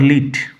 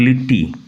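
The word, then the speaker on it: Lit: Clod লিট, নট লিটটি। And Philippa লিট, উচ্চারণ লক্ষ্য করো। লিট, নট লিটটি, লিটটি নয়।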